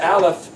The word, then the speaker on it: aleph: becomes an idea so Aleph happens to be the silent letter silent it's pronounced yeah or sometimes as ah but it's really a silent letter your ideas are